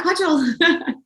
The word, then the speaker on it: Kaajal: I'm still pronouncing that right, Kaajal. You got it right, yeah, Kaajal.